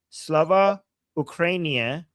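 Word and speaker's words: Слава Україні: I was told that you just have to make it rhyme with Urumia, okay? And I know Urumia, so now I will never forget. Slava Ukrainia rhymes with Urumia.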